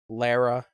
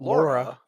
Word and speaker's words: Lara: Yeah, where you had Lara being like, it is Lara Croft, not Laura. No, that's a mispronunciation. No. Lara, excuse me. Not Lara. Not Laura. Lara.